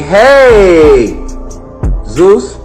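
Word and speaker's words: Jesús: How do you say Jesus in Spanish? You say, hey, Zeus.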